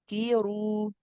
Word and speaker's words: ذُكِّرُوا: So we have the dhal followed by another dhal after it. This dhal is a dhamma, so make sure you make a clear oo sound for it.